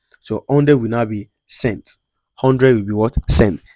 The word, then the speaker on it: cent: So, 100 will now be cent.